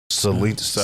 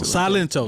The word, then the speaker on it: Silento: Silencio. Salento, is it how you say it? Silencio. Silento.